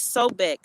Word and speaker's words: Sobek: So right now, month 2, Renunut is spelled R-E-N-E-N-U-T. And month 3 is Sobek, S-O-B-E-K.